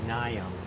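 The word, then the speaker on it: Mnium: It's pronounced Nium, M-N-I-U-M.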